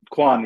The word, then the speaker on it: Quan: I I can spell his name, but you pronounce it for me. Khoy, is it Quan? Quan.